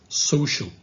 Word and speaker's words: social: Don't say social, because it's social. Again, social.